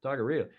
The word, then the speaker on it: taqueria: Dennis Conner had a favorite taqueria. Yeah. How do you say that? Taqueria. Taqueria.